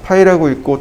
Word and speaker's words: 파이: 도면에서는 파이는 지름을 뜻하고 읽기로는 파이라고 읽습니다. 파이라고 읽고 또는 지름이라고 읽으면 되겠죠.